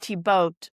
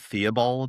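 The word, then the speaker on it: Thibaut: And they would sign charters mother and son speak jointly I Adella countess of blah and tiboat my son.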